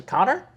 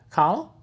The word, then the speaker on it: Connell: my name i think he mispronounced my last name about five times when he was trying to meet me he's like connell robert connolly he's a connor he's like no connell and he's i just